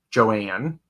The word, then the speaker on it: Joan: Can Spirit please give me an update on my ailing mother, Joan, pronounced Joanne.